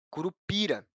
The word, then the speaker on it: curupira: No caso da palavra curupira, a sílaba tônica é a sílaba pi, que não possui acento.